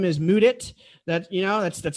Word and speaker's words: Mudit: so what's going on everybody my name is moodit that you know that's that's spelled m-u-d-i-t but i do not work in